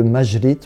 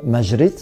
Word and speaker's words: Maŷrit: mot arabe en castillan, vu que la lettre J se prononce re, c'est la rota, on va utiliser la lettre Y avec un accent circonflexe dessus pour rendre le son J, ce qui donne la forme Majrit qu'on trouve parfois à